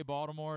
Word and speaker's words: Baltimore: Do you pronounce the T when you say Baltimore? Or do you understand it's really like a D? How does that? It's a D to me.